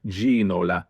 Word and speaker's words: Ginola: And David Ginola, Spurs would constantly be bringing up the broadcaster saying it's Ginola, it's Ginola. So for a long time, pronunciations have been very difficult, especially, you know, there's new players being brought in all the time.